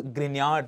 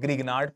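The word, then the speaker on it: Grignard: bromide magnesium this is grard reagent do not call it Gard please g is silent grard reagent you'll be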